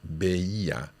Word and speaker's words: veía: Veía. Quite tricky to say. There's three separate syllables there.